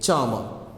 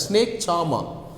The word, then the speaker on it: charmer: Now he comes across a snake charmer. Who is the snake charmer? Charmer, not charmer. Charmer. The R is silent, okay? The R is silent. Snake charmer.